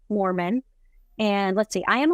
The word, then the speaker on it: Moorman: So there's not Mormon like the religion, but Moorman, Moorman.